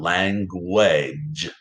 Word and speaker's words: language: And then g, j, saying its second sound of j, right? A g, j, saying its second sound. Language, language. And of course, the silent final E.